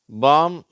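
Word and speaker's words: palm: சேரும்போது என்ன உச்சரிப்புன்னு பார்க்கலாம் வார்த்தைகளை பாருங்க காம் பாம் எல் ஃபிலிம் இதுல காம் பாம் அந்த வார்த்தைகள்ல எல் சைலெண்ட் ஆயிடுது ஆனால் எல் ஃபிலிம் அதுல எல்லாம் உச்சரிக்கப்படுகிறது அடுத்து கீழ பாருங்க இதுல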